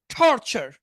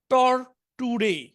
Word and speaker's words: torture: টর্চার, টর্চার চ আছে কিন্তু চ, এখন ইংরেজিতে চ কোথায়? ইংরেজিতে চ নেই, তো সুতরাং বানানের সাথে উচ্চারণটা মিলে না। ইংরেজি যদি বানান করতেন তাহলে কি হতো জানেন? এটা টর্টুরে, টর্টুরে, টর্টুরেট, টর্টুরেট, কিন্তু এটা এইভাবে হবে না, আপনি উচ্চারণটা আলাদা করে মুখস্থ করতে হবে।